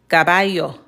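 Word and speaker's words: caballo: Okay, this sound is at the end of the word, but it still has the same rule. Cababayo. So, no matter where the sound a comes at, it's always going to make the same sound, which would be the y sound.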